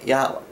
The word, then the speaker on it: Yahweh: Now, the name of the Lord is impronounceable, Yad-Heh-Vav-Heh, but we can say Yahweh.